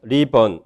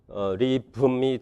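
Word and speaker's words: ribbon: 리번이 발음이 이렇게 슈아가 있는 발음 리번이 될 수도 있고요. 실라빅 무가 있는 리붐이 될 수가 있습니다. 슈아가 탈락되면요. 이렇게 실라빅이 돼야 될 텐데요. 리번 그렇게 발음은 안 하고요. 어시밀레이션이 일어나서요. 얘가 느가 아니라 무로 바뀌어서 이렇게 리붐이 됩니다.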